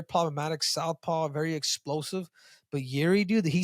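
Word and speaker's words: Jiří: If you want to get technical, it's Jiri. Yeah, that's fine.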